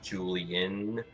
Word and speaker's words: Julien: I'm pretty sure it's pronounced Julian, but okay.